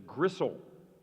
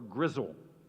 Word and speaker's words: gristle: It also, there's an alternative pronunciation. It's gristle or grizzle.